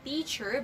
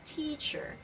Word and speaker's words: teacher: If letter T is at the beginning of the word, you have to pronounce it very strongly. Like I said, teacher, do not say teacher, but it's a teacher.